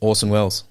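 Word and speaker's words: Orson Welles: old Cricket coach um Orson Wells oh yeah yeah except his that Wells is spelled with an extra e but nevertheless when you say it it sounds the same so um yeah uh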